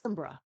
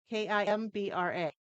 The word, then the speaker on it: Kimbra: Gotti, Gotye, then it's FT, and it's Kimbra, Kimbra. Yeah, can't pronounce any of that.